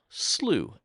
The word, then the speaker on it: Slough: it specifically says that it's meant to be pronounced Slooh.